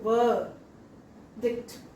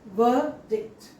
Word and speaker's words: verdict: Okay, v dict. V dict. In spelling, you see letter R, but in pronunciation, we don't see the symbol for R. So, R need not be pronounced there.